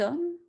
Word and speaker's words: homme: Par exemple, cet arbre, qui c'est masculin, cet homme, masculin. Homme, c'est un H muet qu'on ne prononce pas.